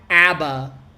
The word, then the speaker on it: ABBA: I can do this one more time a Abba Abba Abba but here's the deal look at